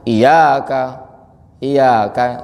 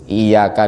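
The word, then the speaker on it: إِيَّاكَ: Sehingga bacanya iya kah sinar mataharimu. Na'budu, masa kami menyembah gitu kan? Ya pasti kan unsur ketidaksengajaan. Makanya kita belajar di sini. Nah, jadi iya kah di sini harusnya ditasydid dan iya tasydid, wawu tasydid.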